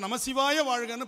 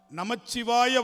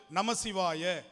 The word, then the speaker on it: நமச்சிவாய: மந்திரமாக ஒலிக்கும் பொழுது, தனித்து ஒலிக்கும் பொழுது 5 எழுத்து. ஆனால் நமச்சிவாய வாழ்க என்றுதான் தமிழில் வரும். நற்றுணையாவது நமசிவாயவேன்னு பாடக்கூடாது, நமச்சிவாயவேன்னு தான் பாடணும். அதுதான் தமிழ் உச்சரிப்பு. மந்திரமாக தனித்து ஒலிக்கும் பொழுது நமசிவாய, ஆனால் திருப்பாடலில் வரும் பொழுது நமச்சிவாய வாழ்க என்றுதான் சொல்ல வேண்டும்.